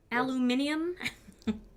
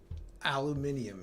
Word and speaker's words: aluminium: and the tin foil the aluminium foil trying to be correct cuz that's the way you really say it right Tom aluminium aluminium yeah yes all right